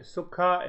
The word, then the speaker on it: sukha: Master says that sukkha Sanskrit word is sukkah sukami sukha and there are two syllables Sanskrit is a spiritual